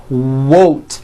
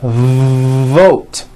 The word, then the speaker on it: vote: not to do this the word is not worth it's vote every v that you will see in english is made with this lip biting position when you see a v it's never it's never a w sound it's always vote like that let's practice some